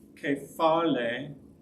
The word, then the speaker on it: kephale: The first is kephale, the emphasis on the last one, head.